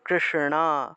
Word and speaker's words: কৃষ্ণ: কৃষ্ণ, কৃষ্ণ, মূর্ধন্যের উচ্চারণটা ণা রূপে, ণা ণা, কৃষ্ণ, ঠিক আছে, শ্রীকৃষ্ণ।